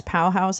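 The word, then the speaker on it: Pauhaus: P A U H A U S. Pow House, I think is how you say it.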